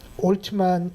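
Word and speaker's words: Altman: 그래서 올트만 이 사람은 발음을 올트만이라고 하더라고요.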